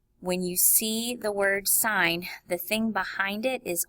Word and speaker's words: sine: calculator, these are trig functions, and they're actually pronounced sine, cosine, and tangent, but what they do is they set up a relationship with the sides of the triangle.